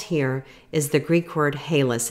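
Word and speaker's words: ἅλας: And salt here is the Greek word halas. It's spelled H-A-L-A-S in the Greek.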